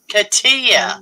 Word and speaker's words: Katia: How do you say her name? Kata? Katia. Katia. Okay. I don't think I say it right either. It's Katia. Katia.